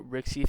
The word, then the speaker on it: RCIC: Well, Marcy, the RSC or Rixie thing could have been prevented had I'm just saying I always try to pronounce RCIC as Rixie to avoid confusion because they sound RCIC and RRC sound very similar whenever you're speaking quickly.